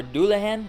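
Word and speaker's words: Dullahan: this is the new and improved harley benton dulhan or dulhan as i've been told it's actually pronounced name comes from a mythical headless creature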